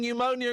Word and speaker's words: pneumonia: The silent P in pneumonia and pneumatic.